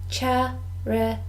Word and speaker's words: charity: let's check with vocabulary charity this word has three syllables charity and the stress is on the first syllable charity charity and a